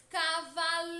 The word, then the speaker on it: cavaleiro: forte da palavra Cavaleiro passa pronunciar lentamente como se estivesse chamando alguém Cavaleiro percebam que a sílaba que mais demora a ser pronunciada é lei portanto lei é a sílaba tônica turma a sílaba tônica lei é a penúltima sílaba da palavra Cavaleiro portanto